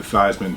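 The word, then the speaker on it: Theismann: that team named Joe theeman who changed his name in uh at Notre Dame the thyman to rhyme with that trophy that he didn't win but uh he was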